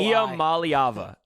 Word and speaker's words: Iamaleava: Nico, and I'm going to pronounce his last name for once. Nico Iamaleava.